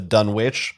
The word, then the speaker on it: Dunwich: say in the stream official fantasy flight person pronounced a dunwich so anyone who ever commented and got mad at either of us for saying dunwich in an old video get mad at them